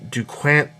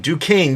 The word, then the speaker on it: Duquesne: Row, Joker's daughter, Cullen Rowe, Elisa Yao, Kathleen Duquesne. I know I'm saying that wrong. Duquesne.